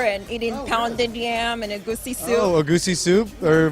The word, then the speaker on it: egusi: You seem to fit the part so well, transitioning into Nigerian culture and eating pounded yam and egusi soup. Oh, egusi soup? Or what? How do you pronounce it again?